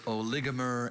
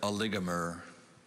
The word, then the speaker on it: oligomer: of speech noun oligomer are there any alternate pronunciations there's oligomer and oligomer can you repeat the word oligomer oligomer a